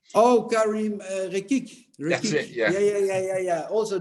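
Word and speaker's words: Karim Rekik: I may be pronouncing that wrong. Oh, Karim Rekic.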